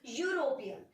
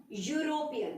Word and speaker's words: European: But the sound that it has is Y, European.